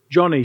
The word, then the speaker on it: Joni: And I've never met Joni, but I was politely told that her name's actually not Joni. Her name is Johnny. She was named after her dad, so I'll try and